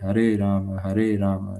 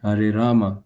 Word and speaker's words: Hare Rama: Or Hare Rama, the A goes, it's Hare Ram. Every syllable must be pronounced.